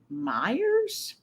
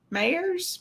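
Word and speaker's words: Meijer: lunch we went to Meyers I believe it's how you say it m j e Mayers Myers it's is there like an Oscar Meer wiener I think so I think it's like Meyer um it's it's a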